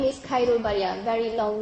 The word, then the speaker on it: Khairul: this is it right next my name is Cairo very long name very hard to pronounce but just call me okay not k-u